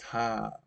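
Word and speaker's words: ห้า: Actually, the number 5 in Thai is pronounced ha, which is like laughing, right?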